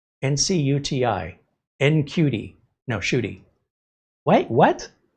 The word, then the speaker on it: Ncuti: Or the Doctor Who, Ncuti, who spells his name N-C-U-T-I. N-C-U-T-I.